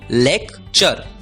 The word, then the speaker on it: lecture: हमने सीखा TURE की आवाज होती है चर, इसलिए LECTURE का उच्चारण होगा लेक्चर, लेक्चर।